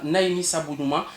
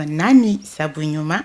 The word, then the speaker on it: Nani Sabunuma: cankan merci d'abord euh vous faites un peu erreur dans la prononciation c'est la coopérative Nani sabunuma d'accord voilà Nani qui